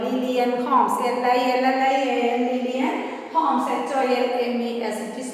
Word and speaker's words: Holmes: Lillian Holmes is the author of the poem. Lillian Holmes, L-I-L-L-I-A-N, Lillian Holmes, H-O-L-M-E-S. It is not H-O-M-E-S, it is H-O-L-M-E-S. L is silent there. We pronounce it as Holmes, Lillian Holmes.